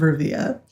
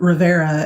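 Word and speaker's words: Rivia: look at geralt of Riva so um who I was calling geralt of Rivera and none of y'all corrected me until I like rewatched it and realized that I was saying it wrong I was like um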